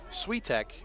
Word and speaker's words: Switek: It is actually Tommy Switek is how you pronounce his name. I thought it was Switek, but Switek is how it is pronounced.